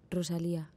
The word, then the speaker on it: Rosalía: name and they say they don't say the R as we usually say back home but by home by home we say for example in with my name Rosalia you know the R